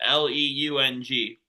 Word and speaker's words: Leung: And from I last season, 48, you have Kevin Lung, I think his last name is pronounced Leung. Interesting.